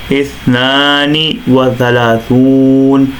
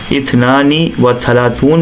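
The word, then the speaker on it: اثنان وثلاثون: 32 کو عربی میں اثنان و ثلاثون، اثنان و ثلاثون، اثنان و ثلاثون کہا جاتا ہے، جبکہ ایک تلفظ اثنانی و ثلاثون بھی جنرلی کیا جاتا ہے، اور انگلش میں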